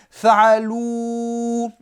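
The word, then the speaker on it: فعلوا: Fa'alou, ici vous voyez que j'ai mis un alif. Je parlerai de ce alif dans les remarques, mais déjà je peux vous dire que ce alif ne se prononce pas. On appelle ça un alif de séparation, d'accord? At-tafriq. Il sert à faire la séparation entre ce waouh là et le mot qui va suivre. Fa'alou. Donc on ne dit pas fa'aloua. Le alif se prononce pas.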